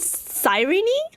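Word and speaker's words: Cyrene: It's called sireny. Sireny. Okay. Okay. Sireny. Sireny. Sireny. I just have to remember it's sirene but with an extra knee at the end.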